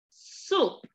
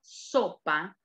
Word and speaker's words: soup: Los alumnos siempre con la palabra sopa cometen un pequeño error de pronunciación. Ellos piensan muchas veces que sopa se dice sop. ¿Cuál es la diferencia entre sop y soup?